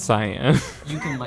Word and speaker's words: Cyan: rob miller and said is it or is it uh cyan or cayenne and he linked me to a like how to pronounce this word webpage and so it's science yeah so i can't